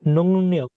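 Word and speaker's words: 능력: এই নুংনিয়ক এটার উচ্চারণ কি? নুং নিয়োগ। নিয়ক, এটার রর উচ্চারণ নর মতো হবে, ঠিক আছে?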